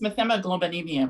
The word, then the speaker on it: methemoglobinemia: She's going to talk about the blue people, methaglobinemia, and the blue people and miscegenation. Methemoglobinemia. How do you pronounce? Say it again. I think it's methemoglobinemia, right? Right. Okay, good.